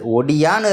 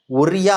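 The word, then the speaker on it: Odia: உச்சரிக்கப்பட்டது அப்படின்றதை சொல்லி இருக்காங்க ஒரியா அப்படின்னு கிடையாது இனிமே ஒடியா அப்படின்றதுதான் இங்க வந்து உச்சரிப்பா இருக்கணும் அப்படின்றத மாத்தி சொல்லி இருக்காங்க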